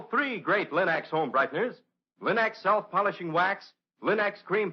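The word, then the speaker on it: Linx: will find all three great linux home brighteners linux self polishing wax linux cream polish and linux clear gloss varnish at your nearest hardware paint or department store remember to ask for them by name linux it's spelled l-i-n-x linux ask for it now now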